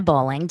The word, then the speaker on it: Bowling: Yes, you can definitely find me over on Instagram at This Is Bowling. is spelled, and bowling is like the sport.